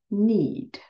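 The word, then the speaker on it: knead: stir D need yes be careful the K before n is silent so this is need good job the correct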